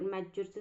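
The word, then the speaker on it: mature: जमीन कशी असेल मॅच्युअर मॅच्युअर स्पेलिंग पाहून घ्या टी सायलेंट आहे मॅच्युअर म्हणजेच काय परिपक्व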